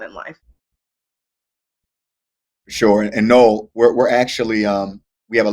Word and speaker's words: Noel: So Noel, if you can answer it, please. It's pronounced Noel, but you guys haven't met me before, so it's all good. I heard Noel.